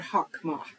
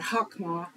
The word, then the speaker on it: chokmah: the word wisdom, it uses the Hebrew word chokmah. Now, in our study, there may be a slight variation on how the Hebrew word chokmah is transliterated.